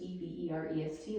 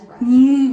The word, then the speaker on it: Everest: until 1865, when it was renamed in honor of Sir George Everest, E V E R E S T, like you spelled for me before.